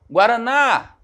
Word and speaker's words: guaraná: Ó, Guaraná. Quando eu chamo Guaraná, qual é a sílaba que estica, né? O que demora mais a sair? O na. Segundo exemplo, pipoca.